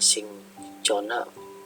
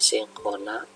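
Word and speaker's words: Cinchona: Nah, ini CH dibacanya KH, contohnya sincona, cara bacanya adalah sinkona.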